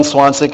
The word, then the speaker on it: Zwanzig: I'm Swansek. I live at 311 Pearl Street. Last name is spelled Zwanzig.